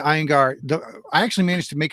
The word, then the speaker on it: Iyengar: Abria Iyengar. Thank you so much. I'm terrible at names. I apologize. Abria Iyengar.